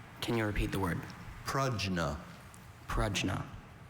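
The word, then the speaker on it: prajna: We often see that a pronounced as a schwa sound in words with that origin, but the bell still hurts every single time we hear it.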